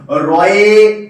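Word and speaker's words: ঋ: রয়ে, রয়ে হস্যই, রয়ে হস্যই, অর্থাৎ একে উচ্চারণ করে কিন্তু রি, রি। এর উচ্চারণ কি? রি। অর্থাৎ রয়ে হস্যই ই, এর উচ্চারণটা কিন্তু স্বরবর্ণ হলো, কিন্তু একে ব্যঞ্জনের নিয়ে উচ্চারণ করতে হয়।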